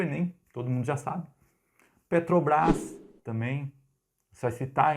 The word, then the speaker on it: Petrobras: sigla Petrobras, que aliás, Petrobras sem acento, tá? Embora a gente fale Petrobras colocando a tônica na última sílaba, por ela ser uma sigla de petróleo de brasileiro, então não tem acento.